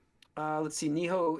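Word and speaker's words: Nioh: Neiho is Neo. How do you say Neho 3? Neo. Neo. Oh, Neo. Neo.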